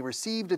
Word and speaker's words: received: Anna Barghini received a telephone call, received a telephone call. Fíjate que la D de received, que es difícil para un hispanohablante, imposible. Si, enlazando con la E, se hace más posible.